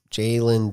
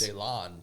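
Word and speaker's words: Jalon: J A L O N. Jaylen Daniels. Jaylon Jaylon Daniels. Maybe that's how he pronounces it, too.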